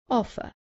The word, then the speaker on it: offer: Offer. Remember that in British English, the R at the end is not pronounced, so the last sound is an offer.